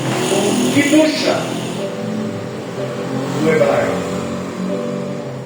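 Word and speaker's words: קדושה: E apenas para nós enaltecermos o nome do Senhor Jesus, a palavra santidade em hebraico, ela é pronunciada como Kidusha no hebraico.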